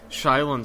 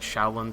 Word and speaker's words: Shaolin: It may be pronounced like Shaolin Soccer or Shaolin Soccer.